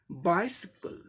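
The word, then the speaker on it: bicycle: 3 syllables का word है, पहले सिलेबल पे स्ट्रेस मार्क दिखाया गया है, यानी कि फर्स्ट सिलेबल को जोर देके स्ट्रेस देके बोलना है। बाइसिकल, बाइसिकल, बाइसिकल।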